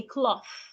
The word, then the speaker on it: cloth: Put your tongue in between your teeth and say cloth.